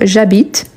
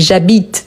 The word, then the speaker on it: habite: Vous voyez que le verbe habiter commence par H. Il s'agit d'un H muet.